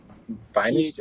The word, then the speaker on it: Phines: It sounds like if you pronounce it like good looking, basically. Like finest. Finest. Like finest. Finest. Finest. So like the finest. Yes. Yes. Without the T at the end.